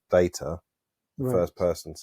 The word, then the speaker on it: Data: at this data what my name it is pronounced data oh you called me data what's the difference one is my name the other is not what did you think